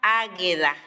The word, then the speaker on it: Agüeda: Se escribe Agüeda, pero se pronuncia Águeda.